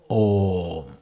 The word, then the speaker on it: Om: A plus U equals O plus M, Om.